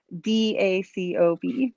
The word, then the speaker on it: Dacob: And remember, when you're searching online, it's Dacob, right? Spelled with a D.